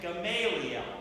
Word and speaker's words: Gamaliel: these studies under this rates rabbi called commit Gamaliel is how to pronounce gum Bailey and he is still very